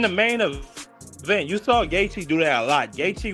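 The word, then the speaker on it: Gaethje: Gachi. Yeah. Gachi.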